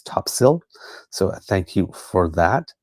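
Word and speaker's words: Topsail: big road in the middle called Topsale Road pronounced topsil. So there we go. Gentle correction on myself. I've been saying top sail and it's topsil.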